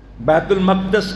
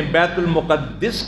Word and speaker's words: بیت المقدس: بیت المقدس کے اندر، بیت المقدس کہہ لیں، بیت المقدس کہہ لیں، بیت المقدس کہہ لیں، سارے تلفظ جو ہیں صحیح.